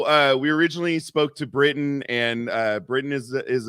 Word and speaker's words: Britton: started talking to I'm saying it right right Britain yes all right I don't want to be